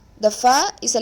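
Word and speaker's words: ف: pronounce the sound now the next letter is far the far is a letter pronounced from the lip your upper tooth the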